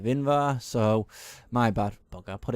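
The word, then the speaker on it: Invar: you would have seen I kind of pronounced it wrong I said either instead of inva so my bad bugger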